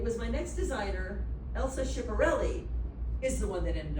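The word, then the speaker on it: Schiaparelli: Elsa Chipperelli is the one that ended up on the cover of Time. So Elsa Chiparelli, am I saying it right?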